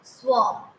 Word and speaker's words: swarm: right then swarm swarm here r is silent so we will pronounce it as swarm a large or dense